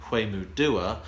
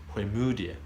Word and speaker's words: Hwemudua: So the stress is on the mu rather than the do. I always said Hwemudua, but it's Hwemudia.